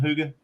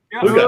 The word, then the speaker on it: Huga: Huga. Huga? Ooga. Yeah. Ooga. Huga. Okay, I always say it wrong.